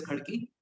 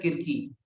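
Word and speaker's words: Khadki: यहाँ पे एक आर्मी पब्लिक स्कूल है, तो एक्चुअल में होना चाहिए था एपीएस खड़की, but because of अंग्रेज they called it एपीएस खकी। Now Indians are pronouncing it एपीएस किरकी।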